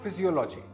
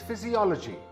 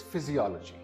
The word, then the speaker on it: physiology: This word is not physiology. This word is physiology. The third syllable is stressed. Again, this word is physiology.